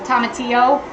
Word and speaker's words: tomatillo: Usually in Spanish, when there's 2 L's, it's like a Y. So tomatillo, that is how I've always said it.